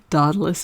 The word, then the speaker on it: Daedalus: Here's the asteroid Diesel, and it is conjunct Daedalus, or Daedalus, as my Greek friend Alex keeps telling me. Daedalus is the proper pronunciation.